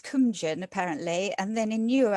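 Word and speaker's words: Cóemgen: Well, in Old Irish, it's Cumjan, apparently, and then in newer Irish, it's Cuivine.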